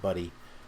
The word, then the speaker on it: Buddy: Sean, his last name is pronounced Buddy. Sean Buddy.